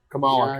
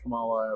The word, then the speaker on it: Kamala: Kamala Khan. Because that one's pronounced Kamala, whereas the vice president's pronounced Kamala. Hey, I learned the emphasis.